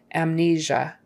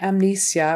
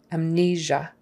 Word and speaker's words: amnesia: people lose their memory amnesia that s in there it's not an s not amnesia or amnesia it's a that kind of a zh kind of sound like there isn't treasure amnesia stress on the second